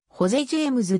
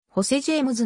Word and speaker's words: ホセ・ジェイムズ: 合衆国の歌手正しい発音はホゼジェームズだが一般的に日本ではホセジェイムズの表記で浸透しているジャズソウルエレクトロ